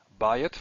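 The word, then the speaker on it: בַּיִת: These are all stressed in the first syllable, which is why the diphthong is there.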